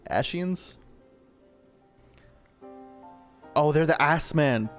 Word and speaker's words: Ascians: How's that actually pronounced? Ascians? Ascians? Oh, they're the Ass Men. The Ascians!